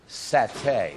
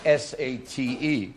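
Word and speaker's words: saté: We're doing a Thai appetizer called satay. It's spelled S-A-T-E, as if it were sate but it's pronounced as satay.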